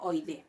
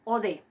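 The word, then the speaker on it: ᾠδή: La siguiente palabra, ode, canto, ode. No pronuncio oide. La iota no la pronuncio, es ode, canto.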